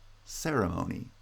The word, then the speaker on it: ceremony: gets secondary stress so ceremony is stressed on the first and third syllables ceremony with primary stress on